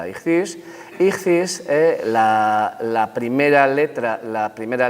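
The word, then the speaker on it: ἰχθύς: resulta que el pez en griego se dice y cis aquí lo he puesto con letras griegas pero bueno créanme ustedes esto se pronuncia dirigirse y cis la primera letra la primera letra de cada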